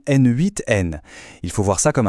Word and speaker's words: n8n: On peut citer par exemple N4N et attention, ça se prononce bien N8N.